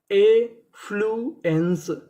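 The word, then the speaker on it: affluence: यहाँ पे हमारा एफ हमारा दो बार लिखा है और आपको पता है कि उच्चारण कितनी बार करना है? एक बार। और आगे लिखा है ई एन सी ई, इसे क्या पढ़ते हैं हम लोग? एंस। तो हमारी मीनिंग क्या बनी? एफ्लुएंस। एफ्लुएंस।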